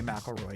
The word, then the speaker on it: McElroy: I had a friend with the last name McElroy who pronounced it the way you said it. Thanks, chat. But I feel like you gotta say McElroy. You gotta get that right the first time.